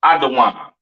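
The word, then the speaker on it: אדום: I'm saying so we can get through this Edom Adam the devil that the Bible speaks of your oppressor the so-called Caucasian man woman and child pronounced adaan uh excuse me Syrian Hebrew to your far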